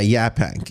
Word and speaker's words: Yaphank: Is it, I believe I'd pronounce it Yaphank, is that correct? Yeah, Yaphank, yes.